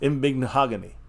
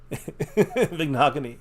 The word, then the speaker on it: Igbinoghene: Mahogany. It rhymes with mahogany at the end. Yes. Igbinoghene. Igbinoghene.